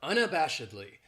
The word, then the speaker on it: unabashedly: Then we have unabashedly. This adverb has 5 syllables, and the stress is on that third syllable, that bash, unabashedly. That second syllable has that schwa, that sound, unabashedly.